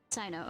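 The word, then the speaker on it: Cyno: Sino, okay, that's how you say it.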